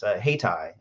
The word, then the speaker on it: Hayti: Hightower mentioned, is Haytai. It's spelled Hayti.